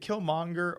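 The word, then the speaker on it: Killmonger: I always is it kill monger or kill monk do you be kind of like halfway pronounce the G in that kill monger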